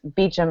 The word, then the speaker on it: Beauchamp: in the books, it's Beecham in the TV series. Actually, it's the same last name. Is it really? Yeah, that's the English pronunciation of Beauchamp.